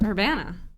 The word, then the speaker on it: Urbana: Urbana.